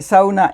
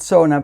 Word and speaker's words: sauna: question by the way SAA is a Finnish word I know lots of people pronounce it Sona but I pronounce it the way it's supposed to be pronounced in Finnish yeah I'm in my